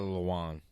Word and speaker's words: Lewan: That Taylor Lewan.